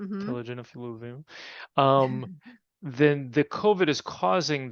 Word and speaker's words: telogen effluvium: And so then with COVID and this long COVID picture that we're seeing with the chronic telefluvium, is that how you say it? Telogen Telogen effluvium, then the COVID is causing this inflammatory reaction that ends up having this effect on the follicles.